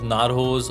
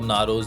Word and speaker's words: Narxoz: So, Narxoz, you can pronounce it as Narxoz or Narxoz. Basically, X is kind of silent in there.